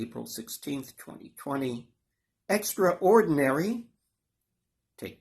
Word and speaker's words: Extra Ordinary: do please partake now I pronounce the title extra-ordinary which is not what we do in the States here we say extraordinary but the title is deliberately written that way as two words Extra Ordinary the film